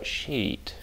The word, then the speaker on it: sheet: Тут ведь еще очень важно, как произносить слово sheet.